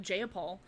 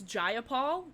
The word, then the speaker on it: Jayapal: from somewhere, and she called her Representative Jayapal, and then Pramila was just like, it's Jayapal. If you're gonna say my name, say it correctly.